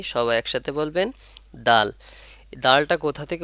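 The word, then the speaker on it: دال: এই হরফটির নাম হলো দাল এ হরফটির নাম কি সবাই সাথে বলবেন দাল দালটা কোথা থেকে উচ্চারণ হচ্ছে দাল হলো জিহ্বার আগা সামনের উপরে দুই দাঁতের গোড়ার সঙ্গে লাগাইয়া তাহলে কোথায় জিহ্বার আগাটা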